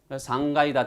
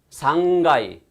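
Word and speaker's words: 三階: 되겠습니까 3층에 넣으면 되겠죠 상가이다 되노 즈타요 발음 두 가지입니다 상가이 상가이 둘 다 가능해요 그래서 상가이 다테노 타쿠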